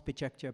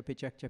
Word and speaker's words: PechaKucha: Pechakcha, ça s'écrit Pechakucha et ça se prononce Pechakcha, Pechakcha, Pechakcha.